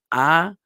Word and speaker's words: Adonai: The name of God that we say in place of the tetragrammaton, this 4-letter name, is we say Adonai, okay, which is from the word Adon, meaning Lord or Master.